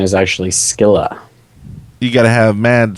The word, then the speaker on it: Scylla: fancy pronunciation is actually skilla you got to have mad skillas to pronounce it right I'm not fancy so that's the fancy Greek pronunciation but she says it's Sila even though that's wrong